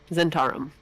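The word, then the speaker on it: Zhentarim: Is Zentarum? that how you say it? Yep. Okay, Zentarum.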